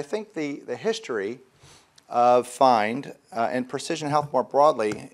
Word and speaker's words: PHIND: story uh at least my connection uh with find and maybe start off with as I just pronounced it find this is a homophone a word that is